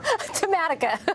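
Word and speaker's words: Tematica: You tell me how to pronounce that, Lenore. Tamatica.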